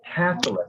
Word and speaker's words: Catholic: good and so actually catholic so remember in english you want the emphasis up front so you gave it a little bit of a portuguese pronunciation so catholic countries okay